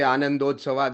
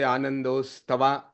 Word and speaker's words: ಆನಂದೋತ್ಸವ: Or maybe when we say Anandotsava, there are people who used to say Anandostava.